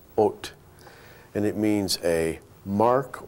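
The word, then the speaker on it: אות: letters and reverse them, put the Vav first, and it's pronounced Ot.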